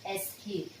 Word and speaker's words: escape: So E is silent, and the silent E here changes the vowel sound. Okay, usually if E is not there, this becomes cap. Okay, escape. So when you add the silent E, the vowel sound changes, escape.